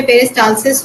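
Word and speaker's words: peristalsis: आप प्रोनाउंस गलत कर रहे हैं, सही बोल रहे हैं, बस प्रोनाउंस गलत कर रहे हैं। कौन से पेज में मिला आपको? मैम यही है, 8 नंबर पेज पे है। आप सही बोल रहे हैं, बस उसका प्रोनाउंस थोड़ा गलत कर रहे हैं। मैम यही लिखा हुआ है इसमें तो, पेरिस्टालिसिस। पेरिस्टालसिस। पेरिस्टालसिस, अच्छा।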